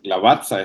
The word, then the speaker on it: Lavazza: Y entonces cuando yo escucho a Rubén por primera vez hablando del café Lavazza, entonces yo le digo, oye, Lavazza, esto se pronuncia igual que Torrazza, me imagino tu apellido.